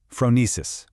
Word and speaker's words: phronesis: And this brings us to another awesome Greek concept, phronesis, pronounced Phronesis.